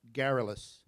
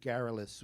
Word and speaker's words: garrulous: word if you don't mind, because I'm not pronouncing it properly. Well, I'll give you this word, garrulous. Given to conversation, loquacious, talkative. The old colonel turned quite garrulous when talking of war.